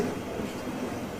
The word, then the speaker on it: Wednesday: There are a number of words where we have both a strong and a weak pronunciation, and both are in general use, for example, the names of the days of the week. You can say ‘Sunday’ /ˈsʌndeɪ/, ‘Monday’ /ˈmʌndeɪ/, ‘Tuesday’ /ˈtjuːzdeɪ/, ‘Wednesday’ /ˈwenzdeɪ/, or you can say ‘Sunday’ /ˈsʌndi/, ‘Monday’ /ˈmʌndi/, ‘Tuesday’ /ˈtjuːzdi/, ‘Wednesday’ /ˈwenzdi/.